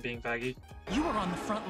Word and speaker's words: Vaggie: the best thing ever vagi actually it's pronounced vagy no but it doesn't